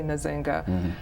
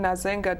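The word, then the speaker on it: Nzinga: an angolian Queen and you'll hear her name pronounced a number of different ways but I say nazinga um she was an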